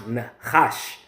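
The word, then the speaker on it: נחש: Even when you go into this word serpent here in the Hebrew, that word is pronounced nachash.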